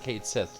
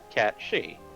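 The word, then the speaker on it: Cait Sith: yes catchy lovely and if you're wondering why we're pronouncing that that way it's an actual celtic term for one of the fae yeah before i knew that i used to pronounce it kate sith like everyone else same here and then i found out about it and it's like oh it's supposed to be catchy and now we're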